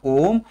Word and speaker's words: ohm: Resistance के SI unit को हम प्रोनाउंस करते हैं ओम और लिखते हैं ऐसे।